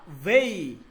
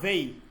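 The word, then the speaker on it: وی: উ কি বলেন উ অথবা ভেই ভেই উ অথবা ভেই এই উচ্চারণটা কি হবে ভেই ভেই ঠিক আছে ভেই ভেই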